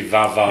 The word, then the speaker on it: Va-Va-Va-Voom: I don't think you're saying it right. I think it should be Va-Va-Va-Voom.